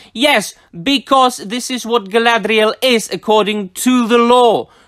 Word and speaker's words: Galadriel: Gallade real based on of course it should be pronounced Galadriel but this is Amazon's version so it's Galadriel based on promotional photos